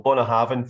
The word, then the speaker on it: Bunnahabhain: So Bunnahabhain, for example, the U at the start is pronounced as an O, and the BH is a V because there's only 24 letters in the Gaelic alphabet.